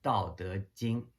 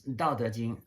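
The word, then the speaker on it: 道德經: Um, this Dao De Jing, which if you spell alphabetically would be Dao. That's the first, the Dao. That's how to pronounce the first character, and the second Chinese character is De. So Chinese pronounces De, and then Jing is Jing, right?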